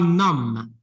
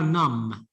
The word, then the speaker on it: numb: They are numb. They are Yes. I think they are numb. Do you know this mean numb? Without pronouncing N-O-M-B. without pronouncing the the B.